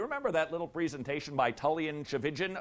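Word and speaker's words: Tchividjian: that little presentation by tan chin rhymes with religion the pastor of Coral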